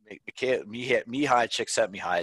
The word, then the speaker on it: Csikszentmihalyi: Well, this is something, you know, Csikszentmihalyi, Csikszentmihalyi is his full pronunciation.